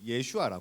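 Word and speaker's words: ישוע: 있는 뜻이 구원이요 히어 히브리어로 예수를 예슈아 하거든요 예슈아 뭐 들어봤는지 모르겠는데 예슈아 히브리어 발음으로는 그렇게 해요 근데이 단어 자체가 가지고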